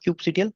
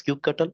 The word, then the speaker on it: kubectl: Okay, so overview of kubectl. This is the command line utility tool. You can pronounce as kubectl or kubectl.